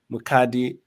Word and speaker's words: Mukadi: I know you did talk about you have 4 kids and you are married to your king, my friend Eddie Mukadi, right? Did I pronounce that correctly?